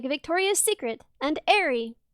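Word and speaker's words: Aerie: Yeah, but but if you um like there there are separate stores for women's underpants, like Victoria's Secret and Airy, which I pronounced I for years because I'm stupid.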